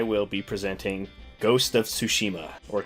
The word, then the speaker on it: Tsushima: I will be presenting Ghost of Tsushima, or Tsushima. Perfect. And depends how I know it's such a hard pronunciation.